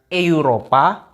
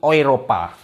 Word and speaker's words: Europa: Kalau EU kita nggak baca EU, tapi bacanya OI. Jadi kayak contoh, kayak ini. Kalau kita bacanya Eropa, Tapi kalau di Jerman bacanya pakai ini, Europa. Jadi bukan Eropa, tapi Europa.